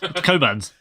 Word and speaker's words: Cockburn: Coburn's.